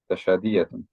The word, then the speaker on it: تشادية: So they've put a ta and a sheen to get a cha type of a sound.